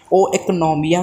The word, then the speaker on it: oikonomia: So economics ये एक social science है और economics एक Greek word था जिसे ओ economia करके pronounce किया जाता है, जिसका मतलब है